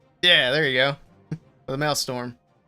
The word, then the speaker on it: Maelstrom: The Maelstrom. Maelstrom.